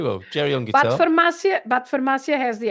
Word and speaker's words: farmácia: Farmácia because you have the accent on the second A, right? It's farmácia. And the accent always tells you that where the accent is, you stress that syllable.